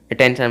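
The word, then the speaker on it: attention: इस टी का उच्चारण जो है टॉ के रूप में हुआ, और इस टी के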